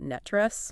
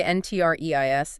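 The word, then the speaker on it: NTREIS: And by the way, if you want to sound like a true local insider, you pronounce that Netress.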